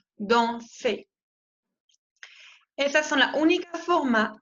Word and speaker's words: dansez: Y la EZ se pronuncia E, como la E española. Vous dansez.